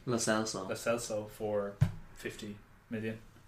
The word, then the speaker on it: Lo Celso: Lo Celso.